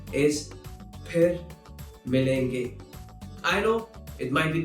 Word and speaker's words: फिर मिलेंगे: There's no f sound in Hindi.